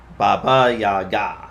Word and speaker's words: Baba Yaga: Yaga, the stress falls on the last syllable. Baba Yaga.